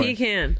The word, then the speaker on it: pecan: No. No, you said it wrong. Oh, I don't know which way is wrong anymore. Pecan. Pecan. The pecan. Like the, toucan.